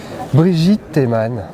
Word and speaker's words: Brigitte Teman: Brigitte Théman. C'est bien, je le prononce bien?